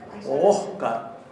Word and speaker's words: okkar: Y Oscar, escuchen cómo se pronuncia. Oscar, casi como si fuera Oscar.